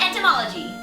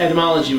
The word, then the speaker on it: etymology: Let's break it down in this week's segment, Pokemon Entomology. Kelz, you pronounced etymology wrong. It's Pokemon etymology where we discuss the word. You said entomology, which means the study of bugs.